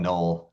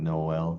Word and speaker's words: Noel: Because they call him null, not Noel. Some people call him Noel. He calls himself null. So just my name is Noel. Her name is Noel. Nol. It's all one syllable.